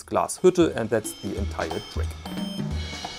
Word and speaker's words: Glashütte: people say glasshoot but the e at the end of the word is spelled and there's an umlaut and so it's glasshutter and that's the entire